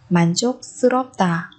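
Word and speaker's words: 만족스럽다: Chúng ta cũng có thể dùng từ man chok sropta, man chok sropta, man chok sropta. Ở đây chúng ta biến âm siêu thành âm căng bởi vì phía trước là phát chim kỳ dọc.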